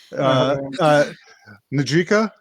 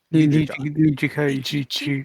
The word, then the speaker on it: Nijika: Since Blackle fucked it up, I forgot how to say it. Najika. Nijika? Nijika. We want to carefully place the emphasis on that one.